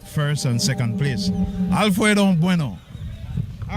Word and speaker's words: Bueno: We keep saying Bueno. What's the proper pronunciation? Bueno.